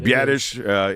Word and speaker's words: Biadasz: Biadasz is the right way to say it.